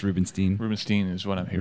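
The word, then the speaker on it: Rubinstein: I've heard it's Rubenstein, by the way, despite the fact that it's E-I-N, and my German teacher said that should be I, not E, but whatever, man. So it's Rubenstein?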